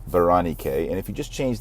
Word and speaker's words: Berenike: But in Greek, it's pronounced Berenike.